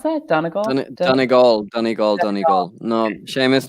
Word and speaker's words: Donegal: Is that how you pronounce that? Donegal? Donegal, Donegal, Donegal.